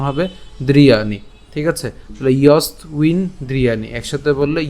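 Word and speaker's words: যস্ত্বিন্দ্রিয়াণি: এবং এখানে যে ব আছে, বয়ের উচ্চারণটা আমরা ইতিমধ্যেই বলেছি, এর উচ্চারণটা উয়োর মতো হবে।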